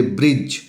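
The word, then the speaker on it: bridge: D plus ji it means D के बाद जब जी हो एन हो एस हो डब्ल्यू हो तो इस डी का आवाज नहीं निकलेगा।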